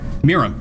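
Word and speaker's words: Miirym: Miram Sentinel Worm for 3, a green, blue, and a red. Did I not pronounce that right? Miram.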